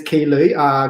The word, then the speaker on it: Ky Luu: My name is Key Lu. Key pronounced Key.